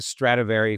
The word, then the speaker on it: Stradivari: And that became the Stratavari formula. The book uses the term stratavari. That's the actual Italian pronunciation, whereas Latin pronunciation, which most people know about, is called stratavarius.